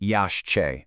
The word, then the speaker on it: Yaxché: So the Yaxché, and by the way it's pronounced Yaxché, is the sacred Mayan tree of life.